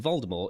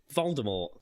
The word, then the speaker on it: Voldemort: Rowling previously stated that the T in Voldemort is silent, as it is in the French word for death, mort.